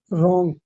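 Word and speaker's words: wrong: पागल पागल रॉन्ग डब्ल्यू यहां पर साइलेंट है। आर से पहले डब्ल्यू साइलेंट रहता है मतलब 70 80% ठीक है।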